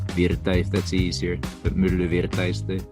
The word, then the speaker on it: Myllyvirta: It's just the U sound that is a bit hard for English speakers, so you can go with milli. Okay. Virta if that's easier, but myllyvirta is the correct pronunciation.